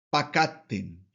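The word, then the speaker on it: פְּקַדְתֶּם: vamos a ver que comienza con un sheva. Por lo tanto, se pronuncia. Cuando un sheva inicia en una palabra, debe pronunciarse según la regla. Así que esto debe pronunciarse como pakatten, pakatten. Lo mismo va a suceder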